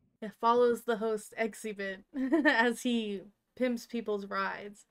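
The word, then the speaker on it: Xzibit: i b t um his name is pronounced exhibit it follows the host exhibit as he pimps people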